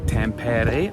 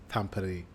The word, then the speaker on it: Tampere: Right, today we are taking the train to Tampere. I think I'm pronouncing that correctly.